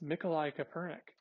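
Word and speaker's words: Mikołaj Kopernik: But who is Nikolai Copernic? Well, the picture is right here, but the English pronunciation of this famous astronomer is Nicholas Copernicus. This is the Polish pronunciation.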